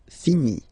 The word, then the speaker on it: finis: Remember, final S is not pronounced. Je finis.